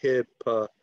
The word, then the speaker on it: hippopotamus: But the stress comes on hippopotamus, okay? So the accent goes on the third syllable, hippopotamus, okay?